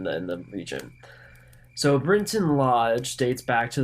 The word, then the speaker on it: Brinton: who might be curious It's not actually spelled Britain it's b r i n t o n so Brinton is probably the proper pronunciation but I'm probably not